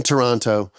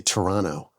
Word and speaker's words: Toronto: in Liverpool live in Toronto work with I guess I should say Toronto I say that second te a little bit too hard don't I Toronto no want